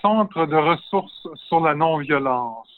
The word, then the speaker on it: Centre de Ressources sur la Non-Violence: And Norman, please pronounce the name of your organization so I won't be too embarrassed. That's the Centre de Ressources sur la Non-Violence, which is an organization dealing with nonviolence issues,